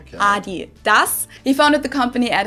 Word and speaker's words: Adidas: let's see what we got because they usually pronounce it Adidas Adidas and in Germany we say Adidas Adidas Adidas Adidas Adidas Adas super different it's